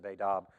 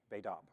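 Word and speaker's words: בֵּית אָב: It is spelled B-E space T-A-B, Beidab. And the T is pronounced as a D, so it's written Beidab. Now there's accents on that, but I'm not even going to try to communicate those.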